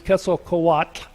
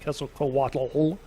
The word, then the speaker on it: Quetzalcoatl: your life, it is Quetzalcoatl, and that TL at the end isn't voiced, so it isn't Quetzalcoatl. And that's about as much as you'll ever really care to know about the pronunciation of Quetzalcoatl.